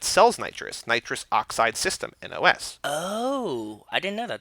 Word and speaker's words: NOS: Michaels so Michael says such a client it's pronounced n OS not nas nas but they're yelling nas in the movie